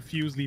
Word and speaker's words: Fuslie: right all right all right anyway no it's pronounced foosley trust me i know i follow her second